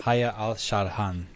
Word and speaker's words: Haya Alsharhan: Haya Alsharhan. Did I say it right? Sharhan. No. Yes. No. Sharhan. Yes. Haya Alsharhan.